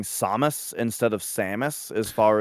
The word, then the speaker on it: Samus: Melee, when you pick her as a character, the announcer pretty clearly says Samus. And so I was like, all right, that's how you say it.